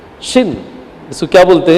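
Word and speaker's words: שִׁין: Shin. इसको क्या बोलते हैं? शिन बोलते हैं। लेकिन अगर ये शिन के राइट साइड में यहां पर डॉट होगा तो ही इसे क्या बोलेंगे? शिन करके बोलेंगे।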